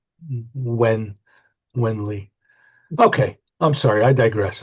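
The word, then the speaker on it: Nguyên Lê: Because I always called it New Yan Lee, but it's pronounced Wen, like W I N When Wenly.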